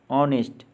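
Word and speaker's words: honest: आपने देखा कि इन शब्दों के प्रथम अक्षर का शब्द में उच्चारण नहीं होता। अब इन शब्दों का उच्चारण करें। रॉन्ग, नो, नीटिंग, ऑनेस्ट, शाम।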